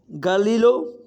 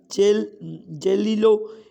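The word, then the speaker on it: Galileo: गैलीलो या जेलिलो, इनमें से गैलीलो होगा। प्रोनाउंसिएशन में आप थोड़ी कर लीजिएगा, अगर आपको थोड़ी सी थोड़ा डाउट हो तो इसकी प्रोनाउंसिएशन गैलीलो ही है, मैंने लिखी हुई है पीछे।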